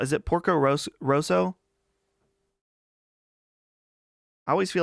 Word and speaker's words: Porco Rosso: Is it Porco Rosso? I always feel like I'm saying the name wrong. Porco Rosso. Yeah, it's Porco Rosso.